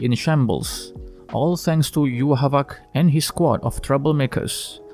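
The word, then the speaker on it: Yhwach: know how to say his name is it you walk or you watch or like in the anime version you havoc well after doing a little research so the correct pronunciation would be you havak anyway that's right bleach fans after waiting for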